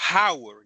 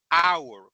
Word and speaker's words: hour: Pero con la hora, yo no digo hour, yo digo hour, como si empezara con una A.